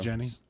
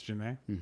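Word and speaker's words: Jhené: Is that how you pronounce it? Yeah, Janae Aiko. Jenny. Yeah, so Janae Aiko. Janae Janae or Aiko. Jenny? Janae. It's Janae.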